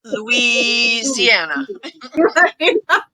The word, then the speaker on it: Louisiana: It's named after Louis, King Louis, and that's why it is Louisiana. It should be Louisiana.